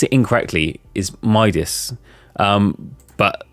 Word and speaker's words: Midas: just quickly find was the heart Modas hand madas um I'll keep saying with Das I I pronounced it incorrectly is Midas um but like yeah I I do pronounce